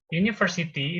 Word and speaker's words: university: Nah, university itu memang secara tulisan U, ya. Cuman secara pengucapan dia bukan U, tapi U, university.